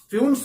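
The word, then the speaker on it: Fuentes: तो ये देखिए GL फ्यून्स हैं, कुछ टीचर इसको फ्यूंटस भी बोलते हैं, वो गलत प्रोनाउंसिएशन है, फ्यून्स बोलिए, फ्यून्स।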